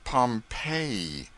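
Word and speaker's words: Pompeii: of Fame the buried city of Pompei they pronounce it Pompei I always had an idea that you went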